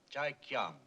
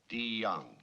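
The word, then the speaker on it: Deong: Chai Kyang. The name is DeYoung, sir. It's pronounced with a D. DeYoung.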